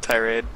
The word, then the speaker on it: tirade: Well, how do you pronounce that word? Don't. I don't know. Tirade. Tirade? There you go.